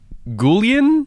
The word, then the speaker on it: Guillén: characters, Jack Quaid, Harvey Guillén, I think is his name. I was practicing how to say his name beforehand. Is it Guillen? Yeah. Guillén. Harvey Guillén.